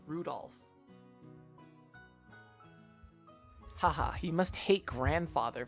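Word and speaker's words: Rudolf: It's just Anyway, the guy's name is pronounced Rudolph.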